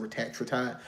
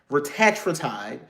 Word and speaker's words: retatrutide: to the retatride because that's how they actually pronounce it. Retatride. I'mma say right until the end of time, but to be politically correct, retatride, right?